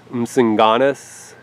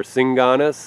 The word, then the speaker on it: msinganus: So I'd say msinganus or singanus if you don't pronounce the M.